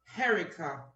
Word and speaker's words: Herricia: mr john kelly's my name is pronounced herica heritage okay it's spelled